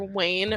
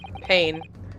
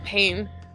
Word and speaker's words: Payne: Prosecutor Wayne or Prosecutor Payne. Payne. I think that's the one. Yeah, Payne. Like Wayne, but spelled with a P instead.